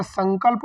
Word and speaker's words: संकल्प: समझ लेते हैं लेकिन अगर संकल्प बोला जाए संचार बोला जाए संदर्भ बोला जाए तो आप ना का उच्चारण समझते हैं जबकि वहां पर भी सम ही होता है इस तरह से